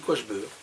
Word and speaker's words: Quaghebeur: La prononciation est très curieuse. Mais à Tournai comme à Lille, on dit Quachbeur.